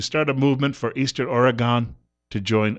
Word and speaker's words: Oregon: Oregon is actually the pronunciation, I'm told, by someone who grew up there. Just because it has an O-N at the end, it should be an U-N when you pronounce it. Not like United Nations, but an UN.